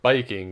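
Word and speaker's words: バイキング: the great idea to call it Viking or biking in Japanese pronunciation and since Vikings were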